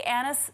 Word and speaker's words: anise: seeds do you see do you see anna's or an anise how do you say seeds okay so these are anise seeds yeah which are the